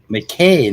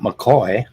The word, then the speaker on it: McKay: McKay, not McCoy.